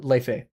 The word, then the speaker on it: Laufey: What's your take on Leifei? What's your take on Leifei? Because her newest album, Leifei, it's spelled like Laufey, like Laufey.